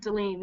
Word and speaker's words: Delane: So, Delane? Yeah, that's me. It's correctly pronounced, Delene.